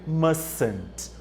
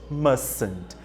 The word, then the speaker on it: mustn't: Então, a pronúncia seria mustn't, mustn't. É como se esse T não existisse, mas não confundam, ele existe na hora que escreve, só não é usado na hora de pronunciá-lo, ok?